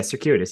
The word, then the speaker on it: circuitous: the right way to say that word yeah circuitous you got it yeah okay great Harvard word